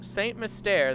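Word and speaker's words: St. Mystere: By the way, note, Saint Mystere, that's how it's pronounced.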